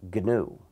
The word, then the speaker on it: GNU: But when it's the name of our system, it's pronounced GNU. Never pronounce it new. You'll confuse people.